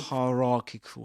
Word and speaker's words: hierarchical: anyway the fact that the second syllable bears the main stress that that doesn't change so you say hierarchical hierarchical and as you can see here in the transcription I took from the online Cambridge Cambridge dictionary this word has two stresses a primary stress on ra and a secondary stress on the first syllable higher hierarchical hierarchical Cool.